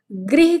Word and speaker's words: गृह: उच्चारण कर रहे हो, जो ये वाली रा होती है जो नीचे लगती है, आपने यदि री की मात्रा पढ़ी होगी, री पढ़े हो? ठीक है, पढ़े होंगे सभी लोग। तो इसको री प्रोनाउंस करते हैं।